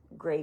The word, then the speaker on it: greige: start out with and it's called gray goods, but it's spelled Greige, and it's because it's not really gray, but grayish. Okay. But they say gray goods.